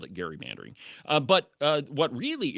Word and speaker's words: gerrymandering: perhaps a couple of others, um, are completely mispronouncing the word gerrymandering. It is not gerrymandering. It is gerrymandering.